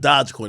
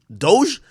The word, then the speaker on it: Dogecoin: how do you say it's not dodge coin it's doge this dogecoin is hitting